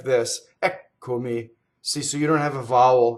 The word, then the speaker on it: Eccomi: So the first word, the accent is on the first syllable, Ɛccomi, and we also have a double K.